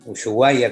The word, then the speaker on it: Ushuaia: Bueno, mi nombre es, yo nací acá en Ushuaia, en Ushuaia, como decimos los yaganes, una pronunciación un poco diferente a lo que tenemos en la actualidad.